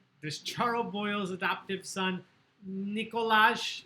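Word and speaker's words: Nikolaj: What country does Charles Boyle's adoptive son, Nicolas, it's pronounced, come from?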